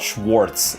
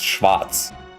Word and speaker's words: Schwarz: He said it properly. It's not schwartz. It's schwatz. But Americans say schwarz. And uh Jews do as well if they speak Yiddish normally.